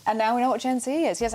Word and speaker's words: Gen Z: And that is the correct way to pronounce it, by the way. I had quite a rude email a few weeks ago. It's the American pronunciation, a bit like the rapper Jay-Z.